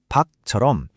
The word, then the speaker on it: 밖: 부엌의 받침은 키역이고 밖의 받침은 기역이죠. 하지만 발음할 땐 둘 다 똑같이 부엌, 박처럼 기역 소리로 끝납니다.